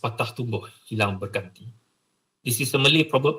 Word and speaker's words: patah tumbuh, hilang berganti: It's pronounced patah tumbuh, hilang berganti.